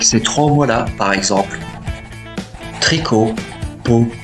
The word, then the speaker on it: tricot: trois voieslà par exemple tricot peau abricot vous voyez bien que le thé est mué donc on ne dit pas tricote pote abricotte Non mais bel et bien tricot pour abricot.